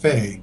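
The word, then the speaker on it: Fahy: one scientist kind of Greg fade FHFA hy but is pronounced fade mm-hmm I mean he's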